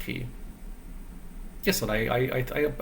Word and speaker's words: chi: sort of learning about chi I guess was pronounced key in Chinese that I'm just pronounced key yes but I I